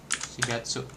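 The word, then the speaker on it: 四月: Tapi kalau untuk N bilang bulan April, nah begini si si Gatsu. Nah, ini si Gatsu nih bacanya si Gatsu.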